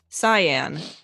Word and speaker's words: cyan: Looks like we got a pronunciation from Philip for cyan, who's typed the word Cy and the name Anne for me in the chat.